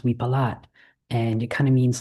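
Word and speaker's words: วิปลาส: In in Thai it's pronounced we palat and it kind of means like crazy.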